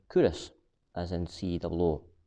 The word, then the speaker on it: Culross: video that uh kurosh has spelled c-u-l-r-o-s and pronounced kurus as in see the law ross um the